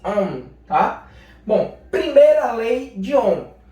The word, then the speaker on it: Ohm: Leis de Ohm, não é Ohm não, viu gente? É Ohm, tá? Pronuncia assim, Ohm, tá?